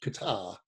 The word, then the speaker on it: Qatar: ago now i think we were in um qatar bahrain and abu dhabi in dubai what's the uh what you said about like the airline oh yeah they're um they're called it's q-u-a-t-a-r because it's pronounced qatar arabic guitar and they're called qatar airways and